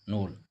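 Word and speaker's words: Knoll: नोल के एन O double नोल के silent होता है नोल एंड रुस्का।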